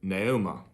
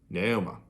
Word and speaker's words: Naomi: It's more like Naoma rather than Naomi. Naoma. So it kind of has more like an A sound on the end rather than like an I, like I would naturally pronounce it.